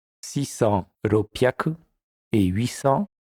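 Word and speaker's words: 六百: Voici pour la prononciation des centaines. Hyaku, ni hyaku, sanbyaku, yon hyaku, go hyaku, ropyaku, nana hyaku, hapyaku, kyu hyaku.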